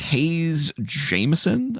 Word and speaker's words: Hayes Jameson: This is Hayes Jameson, I believe is how you pronounce her name. Yes, it is.